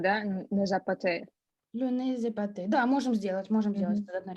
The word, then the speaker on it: épaté: берем как будто другая буква, и она существует, читается «эпате». Très bien. Здесь мы тоже Z соединяем, да? Не запаté. Le nez épaté.